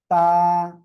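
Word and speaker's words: تاء: তা, তা। জিহ্বার আগা দুই দাঁতের গোড়ার সঙ্গে লাগাবেন, লাগিয়ে উচ্চারণ করবেন।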